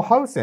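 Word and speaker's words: Huijsen: 行った配線ま正式な発音ハウセっていうのは近いんじゃないかなと思うんですけど主に表記されてるのはハセンなんでハセと呼び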